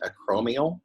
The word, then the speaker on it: acromial: This is pronounced acromial.